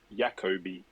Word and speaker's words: Jacoby: in the works by calling it Jacoby as well. They don't pronounce the J, so that adds an extra dimension.